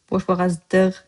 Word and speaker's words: boşboğazlıq: You write here, boşboğazlıq etmə. I said, boşboğazlıq etmə. Lık turned into dığ, or dığ, or lığ. Boşboğazlıq, boşboğazlıq, boşboğazdığ, boşboğazdığ.